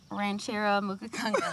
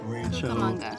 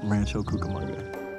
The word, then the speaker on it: Rancho Cucamonga: Do you know how to pronounce the name of my hometown? Ranchero Mukakanga. That is what I think. That is too cute. And it's not how you pronounce it. Rancho Cucamonga. Rancho Cucamonga.